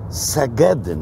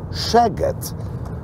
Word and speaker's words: Szeged: Otóż po węgiersku, jak jest SZ, to nie czyta się S, tylko S, a jak jest samo S, to właśnie wówczas czyta się jak SZ nasze, czyli jak sz. Zatem Segedyn to jest polska nazwa miasta, które właśnie opuściliśmy, albo też Seged, jak się chce powiedzieć po węgiersku, a nie Szeged, ponieważ Szeged, Szeged oznacza